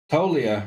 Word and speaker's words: Toglia: Tolia is the batter. Another silent letter.